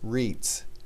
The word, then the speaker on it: REITs: estate investment trusts or rei TS for short pronounced reads REITs are companies that